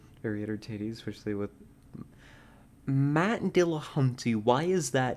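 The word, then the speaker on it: Dillahunty: entertain especially with Matt Dill Hunty why is that name familiar to me why have I heard that name before and why do I know that I'm pronouncing it wrong it's Dill haunty right d d I've heard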